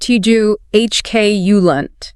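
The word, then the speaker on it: truculent: Finally, in this descriptive group, we have tculent, pronounced tu hk, ulent. Ti hk kul. We really need to break down those three distinct syllables. Tiu, lunt, to get the delivery right.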